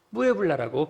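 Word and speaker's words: Puebla: 정도 버스를 타고 가는 푸에블라라고 하는 도시입니다 스페인어에서는 피를 쌍비읍 발음하기 때문에 무에블라라고 발음하면 좋습니다 이곳에서 무엇을 하는가 신학교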